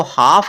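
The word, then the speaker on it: half: इसको हाल्फ पढ़ते हैं हाल्फ नहीं पढ़ना इसको हाफ पढ़ना है उसके बाद है सी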